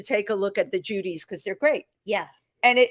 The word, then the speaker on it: Djoodies: You call them Judy's or Judy's? Judy. It's a They're Judy. they're Judy, and it's spelled DJOODIES.